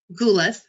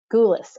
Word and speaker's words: Goulis: last name i didn't even ask you that ghoulis ghoulis okay so she's gonna share her book with